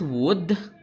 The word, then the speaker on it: would: glimpse of the future next wood silent l for wood serves as